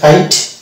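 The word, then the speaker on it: kite: এটা হচ্ছে কাইট, ই সাইলেন্ট।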